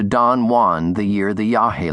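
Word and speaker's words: yagé: Burroughs wrote the word yahi without an accent, as if it rhymed with age. But it's properly written Yahhei with an accent and pronounced as Burroughs knew Yahi.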